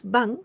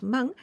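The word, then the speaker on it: 万: wadza wazza is technique bang here we pronounce bang but actually we can also pronounce mang it is it means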